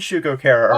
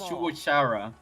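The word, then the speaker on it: Shugo Chara: You just mentioned Shugo Cara earlier. Oh, it's Oh, because you're you're pronouncing it wrong. It's Shuara.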